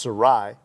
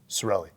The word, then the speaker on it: Cirelli: of Italians uh our my name is cirelli it's actually pronounced Sarai but it got was we say Americanized and now it's uh cirelli whatever works we're pushovers